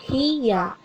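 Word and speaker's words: ひや: Misalnya, huruf dasarnya hi, lalu ya-nya itu sama bentuknya atau besarnya, berarti dibacanya hiya.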